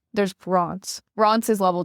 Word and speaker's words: Reims: People say it's always supposed to be like rancid without the id. Rance.